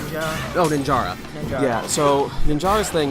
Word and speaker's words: Ninjara: How do you pronounce his name? Ninja. Oh, Ninjara.